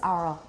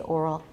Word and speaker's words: oral: I think she says oral. She's from more eastern part of the country. 好像是 Maryland. She says oral, and that's more East Coast. I say oral. Just like horrible.